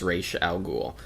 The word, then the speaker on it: Ra's al Ghul: The creator for Ra's al Ghul is Denny O'Neil, and he says it's pronounced Ra's al Ghul.